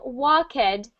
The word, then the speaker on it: walked: And instead of walked, we want that to be the past tense of walk. So let's say walked. Walked. Good. A tiny little T sound.